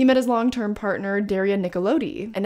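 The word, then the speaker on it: Nicolodi: his long-term partner daria nickelode and every time i say her name i just want to do the like nickelodeon which if i may if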